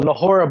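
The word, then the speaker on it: Nohora: Well, Nahora, but the H is silent.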